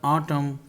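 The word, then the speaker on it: autumn: उसके बाद रूल है विंटर, समर, ऑटम, ये थोड़ी सी यू आएगा, ये एन नहीं आएगा, इसकी प्रोनाउंसिएशन थोड़ी सी अलग है।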